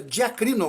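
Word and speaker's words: διακρίνω: o que é uma palavra grega que se pronuncia diakrino o que significa julgar corretamente a julgar com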